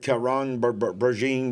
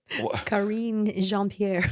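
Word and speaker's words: Karine Jean-Pierre: know what they were careful to say that karon braine what's her name I can't never say her name the press secretary uh oh Karen jeanpierre thank you I can't never say her name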